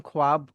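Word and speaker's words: خواب: क्योंकि होता क्या है जब खे आता है ना जिम ग्रुप वाला उसके बाद वाव आता है और फिर अलीफ आता है तो फिर वो वाव जो है वह साइलेंट हो जाता है। तो खे के बाद डायरेक्ट अलिफ को प्रोनाउंस किया जाता है। आपकी स्पेलिंग में वाव रहेगा लेकिन आप उसको पढ़ोगे नहीं।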